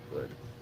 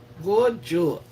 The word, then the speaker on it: Goj: Is that a good pronunciation? Am I spoiling your name? It is G-O-J. I think the J is supposed to be silent, so it would be go.